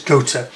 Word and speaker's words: Gotha: People pronounce it Gotha, it's Gotha.